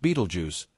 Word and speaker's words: Betelgeuse: than a billion Suns Beetle Jew often pronounced Beetle Juice is a red giant